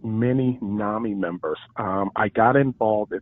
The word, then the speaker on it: NAMI: because some people say Nami's some people say nah me what is the correct the correct pronunciation is Nami Nami is a East Coast thing I think